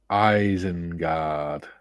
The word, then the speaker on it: Isengard: Duke, Mikey, it's pronounced Isengard.